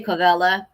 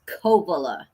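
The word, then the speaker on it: Covelo: A lot a lot of people say Colla, but it's Kovala.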